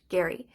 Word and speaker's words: Gerry: Massachusetts governor Elbridge Gary that's right it's pronounced Gary he was also the